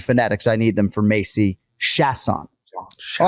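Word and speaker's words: Macy Chiasson: I'm going to say Macy Shatson. So you did well to emphasize the first syllable. Okay. But you didn't get it right.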